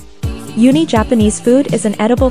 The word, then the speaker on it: uni: or in a mush uni, pronounced oo-nee, are actually urchin roe.